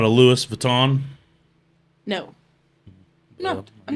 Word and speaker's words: Louis Vuitton: It's Louis Vuitton. The S is kind of silent. Yeah, Well, it is silent.